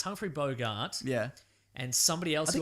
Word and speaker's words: Bogart: Mexico and it's hungrey Bogart yeah and somebody else who I can't Rec it's not pronounced bogot how dare you God